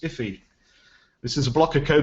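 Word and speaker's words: IIFE: i i f e or as it's pronounced iffy this is a blocker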